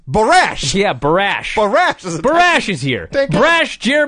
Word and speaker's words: Borash: this point I thought have I been saying his name wrong for 20 years right because they're saying look it's barash yeah barash barash is